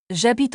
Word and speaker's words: habite: Attention au h muet. J'habite en Italie.